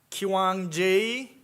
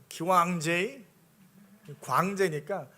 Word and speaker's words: 광제: 그래서 저도 미국에 갔을 때이 선생님들이 제 이름을 부부 부르는데 한참 동안 고민을 하고 기왕제 어우 이래요. 광제의 광제니까 이상하게 그래서 할 수 없이 나중에는 영어 이름을 하나를 그냥 마음대로 줘요.